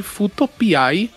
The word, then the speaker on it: Fuuto PI: Então, problema eu não sei, mas a gente recebeu uma polícia da pronúncia aí e pediram gentilmente pra dizer Futopiai, que, por sinal, na época, você lembrou maravilhosamente bem que lembrava Magnum Piai, não é?